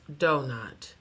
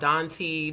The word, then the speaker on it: Donut: Sir, it's pronounced donut. Why do white people always mispronounce black folks' name? You know how many times I've been called Donty, Donita, Donette?